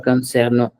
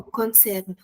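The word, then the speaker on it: concernent: No, it's not concerno. This is the plural conjugation, and we talked about this. We don't pronounce the ent at the end. Oh, concerne.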